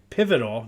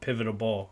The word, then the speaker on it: pivotal: Pivotal, not pivotable. I always want to add the extra syllable.